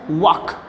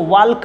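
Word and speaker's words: walk: का क्या होता है, वॉक। बहुत सारे लोग इसको वॉल्क बोलते हैं ना, गलत बात है ना, वॉक। क्या बोलेंगे बच्चे, वॉक, एल को साइलेंट करो, अच्छे तरीके से बोलो, वॉक, ठीक है ना।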